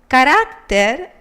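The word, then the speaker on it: carácter: of the second group the world character character ends in R and according to the rules it should have the intensity in the last syllable as the world traveler but character has the intensity in the penultimate so it must carry an accent the same happens with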